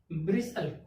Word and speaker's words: bristle: BRISTLE, टी क्या हो गया? टी हो गया साइलेंट, एस के बाद टी आया तो टी साइलेंट हो गया, क्या हो गया? ब्रिसल, यानी कि BRISLE, ब्रिसल।